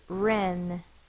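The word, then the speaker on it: wren: the next word is Ren it's a little kind of bird a ren R and this word is spelled with a w r the W is silent E it's the E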